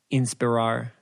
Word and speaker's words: inspirar: The Spanish word of the day is inspirar. Inspiran? Inspirar. Say it like I'd say it. Inspirar.